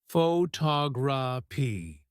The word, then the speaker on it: photography: for longer words take the word photography for example the stress is on the second syllable photography knowing which syllable to